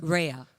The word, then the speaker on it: Rayya: I'm saying it right? Rayya? Rayya. Rayya, okay.